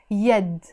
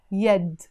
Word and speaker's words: يد: The actual expression in Arabic is واليد, because in standard Arabic we don't say إيد, we say يد. يد.